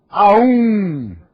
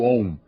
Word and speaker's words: OM: O mantra a um não existe. Pronunciou errado, não tem efeito algum. Não é assim que se pronuncia o OM. A um não se pronuncia. Não é assim. O a e o U fundem-se no o.